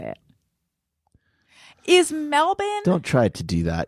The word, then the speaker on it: Melbourne: out in the responses g'day it's Dave from Melbourne Australia to stream to say Happy New Year